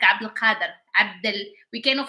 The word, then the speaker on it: Abdul Qadir: Because in Arabic we do like, of course in Morocco we have that name, so it's like Abdul Qadir, Abdul.